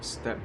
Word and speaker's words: steppe: Is that part silent? Like, step or steppe? Hold on. So it sounds like step. Step. Jesus, that's loud. Step. It's pronounced step, like step family or step bro.